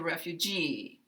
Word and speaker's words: refugee: on other syllables and this word has it on the last syllable when it's on the last syllable we will continue with our voice lower and come up here and glide down just like if it were a on syllable word he's a refugee he's